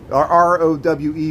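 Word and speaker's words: Rowe: South Dearborn Street, Printers Row, South Loop of Chicago.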